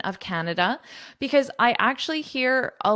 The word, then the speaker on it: Canada: So it's Canada. It's not Canada. Canada. Sometimes I hear that where the da is really strong. Canada. No. Canada. Okay? That's how you say it, like an American, like a Canadian. Canada. So this da is quite short.